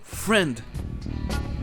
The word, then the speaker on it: friend: Et on pourrait aussi dire que le I est muet dans le mot friend.